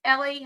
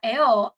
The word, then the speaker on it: Elle: Tik Tok I got a good laugh she pronounced her name as Ellie hasn't she ever heard of el magazine I'm actually am I crazy because when I decided to go by L I thought like people would know that L